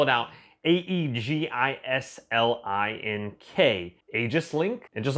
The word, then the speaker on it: Aegislink: the company so i'm gonna go ahead and spell it out a-e-g-i-s-l-i-n-k aegis link and just like all my videos